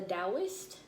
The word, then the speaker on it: Taoist: by um about the taoist it's spelled taoist with a t t a o i s t but they say it's pronounced with the d um i forgot who